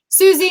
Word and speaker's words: Susi: Susie and Susi, either is fine. In Italy, they call it Susi. America, we're Susie.